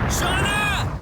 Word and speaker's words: Shana: So, I'm pronouncing it the way the game pronounces it. Same with Shauna. Shauna.